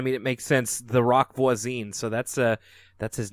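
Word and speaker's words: Roch Voisine: she laughed a little, I pronounced his name as Roche Voisine instead of Rock Voisine. The H is silent.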